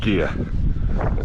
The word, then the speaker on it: Gigha: And Gigha, it's pronounced G-I-G-H-A.